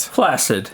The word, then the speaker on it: flaccid: Flaccid, yeah. Flaccid. It's pronounced flaccid, Mac.